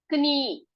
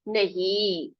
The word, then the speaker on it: knee: यहाँ पर के साइलेंट है, तो के नीचे एक अंडरलाइन कर दीजिए, इसको सिर्फ हम पढ़ेंगे क्या? नी पढ़ेंगे। क्या पढ़ेंगे? नी, ठीक है? तो अ, आप क्या बोलोगे? घुटनों, घुटने को, आपके पैर के घुटने को क्या बोलोगे आप? नी नहीं बोलेंगे हम, उसको नी बोलेंगे, क्योंकि के वहां पर साइलेंट है।